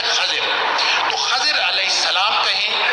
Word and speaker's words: خضر: کا نام تھا خضر, جس کو ہم خضر کہتے ہیں, اس کا صحیح تلفظ ہے خضر.